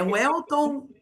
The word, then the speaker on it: Welton: Que eu poderia pronunciar em alemão, Welton, né? Então, eu tinha um professor que gostava sempre brincava comigo, né? Ele chamava, ô, Velton, chega aqui, o Velton.